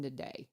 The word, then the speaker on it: Nade: Nade told me to pronounce her name Nade.